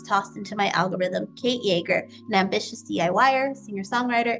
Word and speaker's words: Yeager: funline absolutely yeah my name um is Kate joerger not spelled like the alcohol but uh fun and um